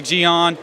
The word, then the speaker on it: Geon: on am i pronouncing that right uh i pronounce it neon gion i don't know how everyone else wants to pronounce it most people say geon doesn't bother me either way works so i